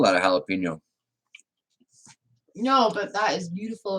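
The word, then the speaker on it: jalapeño: It's basically just a Japaglino. That's how you pronounce it, right, Reb? Japaglino? Something like that? Jalapeno?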